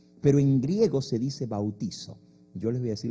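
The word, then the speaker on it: βαπτίζω: Y en griego no se dice bautismo, se dice bautizo. Así se dice en griego, bautizo.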